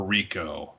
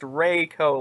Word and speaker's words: Reiko: All right, number 16 is Reiko, or Rico, or Reiko. It's pronounced Reiko like an A. You gotta hold the A.